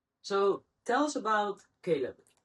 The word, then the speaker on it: Qalb: And I combined the both together, and then we have QALB, which is pronounced Khalid in Arabic, but of course Caleb in English.